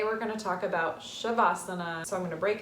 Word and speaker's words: savasana: into it meaning corpse asana meaning poser seat shavasana spelled s-a-b-a-s-a-n-a in sanskrit um pronounced shavasana everybody's favorite time of class it's your final